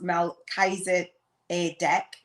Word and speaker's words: Melchizedek: or what have you melchizedek product pronounced mel kaiser a deck is a high priest